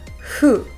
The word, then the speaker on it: who: is the word who many people struggle with this word because they want to use the Japanese sound who but in English the air should come out clearly without any obstruction from the mouth or teeth and we want to shape the sound into an ooh sound with lots of air coming through who who can you